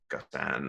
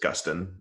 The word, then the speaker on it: Gustin: you know i mean we'll get gustin and gustan and i mean but just gustin um but i was